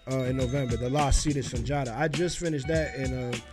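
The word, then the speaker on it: Sundiata: Why the Lost Seed of Sanjara, if I'm saying it right? Yeah, Sanjata.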